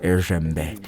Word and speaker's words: Esembe: Honourable Malomba Esembe, but better pronounced Esembe, grew up in a modest home.